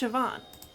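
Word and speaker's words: Siobhan: where they stole the Sunstone from interesting hallway shoban sioban it's pronounced sioban what a menacing name says here that she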